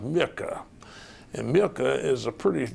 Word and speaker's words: Muecke: surname his name was John Edward it was pronounced Micah and milka is a pretty difficult name for